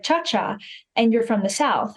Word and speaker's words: Ciaccia: Yes, it's Ciaccia. Funny story is I didn't know how to pronounce that correctly. It's Italian until I went over to Italy. So my whole entire life, we would say Ciassi.